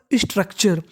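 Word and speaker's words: structure: TURE को हम लोग टुरे नहीं पढ़ते, TURE को पढ़ते हैं हम लोग चर।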